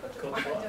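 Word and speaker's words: Côte d'Ivoire: Cote d'Ivoire? Cote d'Ivoire? Cote d'Ivoire.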